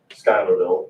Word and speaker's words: Schuylerville: on Hudson River up in New York uh Schuylerville is the way you pronounce it and so but it was a